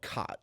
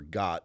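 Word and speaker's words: khat: have a drug called cot or got depending on where you are how they pronounce it's basically a psychedelic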